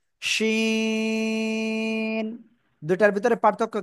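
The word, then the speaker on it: ش: ওকে, ওকে, তারপরে এই অক্ষরটা সা, সা শব্দ করে উচ্চারণ করতে হয়, জিহ্বার মধ্যখান উপরে তালুর সাথে লাগিয়ে, শিন।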